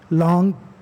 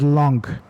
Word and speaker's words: langue: Langue and parole. I have been corrected many times by my professors that the correct pronunciation of this word is langue, not lang.